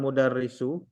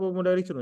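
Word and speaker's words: الْمُدَرِّسُ: Yang pertama, kenapa dia nggak dibaca tanwin? Karena dia sudah ada alif Alif lam. lam. Kemudian kenapa dia dibaca dhammah? Karena tidak ada yang menjadikan harokatnya berubah.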